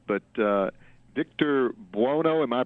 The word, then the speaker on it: Buono: I don't know if you can answer this or not, but Victor Buono, am I pronouncing his name right? Vic Buono, yeah.